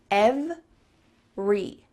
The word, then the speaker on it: every: There's just 2 parts. Ev-re. That middle vowel is cut out.